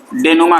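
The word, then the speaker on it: dénouement: इसी कंक्लूजन को हम नमा कहते हैं इसको नुमा पढ़ते हैं ठीक है नुमा स्पेलिंग पर मत जाइएगा जो प्रसन है व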